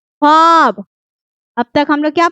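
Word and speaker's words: خواب: मादुला बोला है कि वो वाव जो लिखने में तो आता है लेकिन पढ़ने में बिल्कुल खामोश हो जाता है, मतलब साइलेंट हो जाता है।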